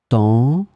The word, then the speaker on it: temps: In this lesson, we will see together two words that will be written differently but pronounced the same way. Temps, temps.